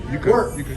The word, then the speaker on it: wort: Wort. So we pronounce it W-E-R-T. It's spelled W-O-R-T.